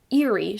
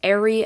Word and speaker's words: Eri: her name was uh eerie she would say as izuku would not his head a lot of you guys say it's airy and that's how they pronounce it in the anime um so i like